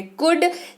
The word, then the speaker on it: could: अगला शब्द है कुड, COULD, इसको पढ़ते हैं कुड, एल को उच्चारण नहीं करते हैं।